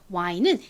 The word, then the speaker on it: wine: W 소리, W 소리랑 I 소리가 합쳐지니까 발음은 Y가 되겠죠. Y. 그리고 E는 끝에 있을 때 별다른 소리가 나지 않습니다.